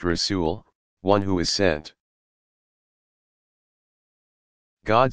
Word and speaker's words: rasul: Rasul, pronounced Rasul, one who is sent.